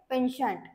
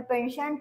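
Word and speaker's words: penchant: आहे आता तो आहे पेन्शन ओके सो याच प्रोनन्सशन कस आहे प एन सी एच n t patient तर पेन्शन मिनिंग होत स्ट्रॉंग लायकिंग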